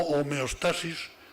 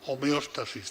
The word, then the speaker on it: homeostasis: distintas yo le llamo homeostasis lo pronunció de esta forma aunque se puede pronunciar homeostasis también qué es señoras y